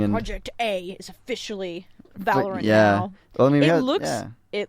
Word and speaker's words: Valorant: It's Valorant. It sounds because Valor, and it sounds very similar to some of the names in League of Legends. So Valorant.